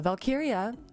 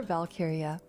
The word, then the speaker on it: Walkyria: valkyria uh valkyria it's spelled with a W but in Germanic pronunciation shut up don't explain it but I do not mind what is she explaining it or valkyria either one is okay no one cares my